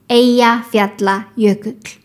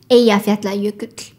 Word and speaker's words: Eyjafjallajökull: This word actually can be broken down into three parts. Eyja means island. Fjalla means mountain. Jökull means glacier. And the correct pronunciation is Eyjafjallajökull. Eyjafjallajökull. One thing that's good to mention, when there are two L's together, they are pronounced similar to DL.